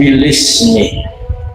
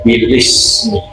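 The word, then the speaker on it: بالاسم: pertama akrahu bilismi ini bacanya bilismi bukan bil ismi karena itu hamzah bukan hamzah maka kalau kita baca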